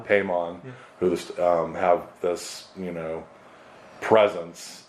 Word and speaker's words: Paimon: Paimon, who the stories, is that how it's pronounced? Paimon, yeah.